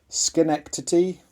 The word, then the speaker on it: Schenectady: have seen around, and can be pronounced, I guess, two ways, either Schenectady or Schenectady. Depends whether you're a local of New York State, I guess.